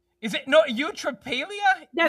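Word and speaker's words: eutrapelia: Ultrailia.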